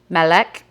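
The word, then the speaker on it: מלך: then it says transliteration how to say it, "Melech", and then how it's written in Hebrew.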